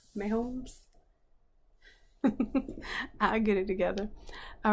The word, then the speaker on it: Mahomes: It's pronounced Mahomes. Mahomes.